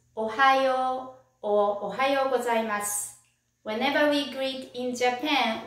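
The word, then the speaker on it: おはよう: with good morning good morning in japanese it's ohio whenever we greet in japan we bow let's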